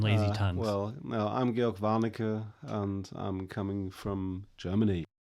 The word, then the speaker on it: Georg Warnecke: We've got George from Germany here, and I'm calling him that because he pronounces it with sounds I can't make. So I can't roll R's.